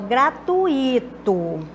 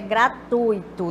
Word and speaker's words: gratuito: fosse proparoxítona e vice-versa pode acontecer de o pronunciar concurso proparoxítona e elas e paroxítona Então vamos ver aqui o caso dessa o grato desde até o gratuito não é quando o correto é gratuito nós temos aqui um